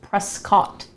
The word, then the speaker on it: Prescott: We're going to go to a place called Prescott, which is spelled Prescott.